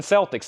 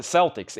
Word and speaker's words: Celtics: The Boston Celtics. The only way you pronounce it Celtics. Anywhere else it's Celtics.